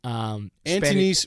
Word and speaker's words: Antonis: to say like Anton, but it's Anton for him. It was specifically in the pronunciation guide.